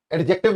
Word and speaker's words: adjective: एडजेक्टिव में D silent है, जी हाँ, याद रखना। जब भी कभी ए, डी और जे आता है तो हम इसको साइलेंट रखते हैं। जैसे एडजस्ट नहीं होता, एडजस्ट होता है ना, एडजस्टमेंट होता है। एडजसेंट एंगल नहीं होता, एडजसेंट एंगल होता है। तो ए डी जे अगर एक साथ आ रहे हैं तो डी यहां पर साइलेंट हो जाया करता है, ठीक है।